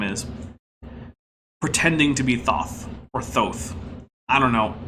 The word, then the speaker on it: Thoth: out earlier the uh the greek uses an omega so even if you're using the greek reconstructed pronunciation it would be thoth whatever i'm not gonna